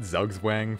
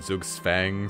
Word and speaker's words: Zugzwang: I said Zugzwang for the longest time. I looked up what that is, and it's like a stalemate in chess or something. So then Zug's Fang sounds like the right idea.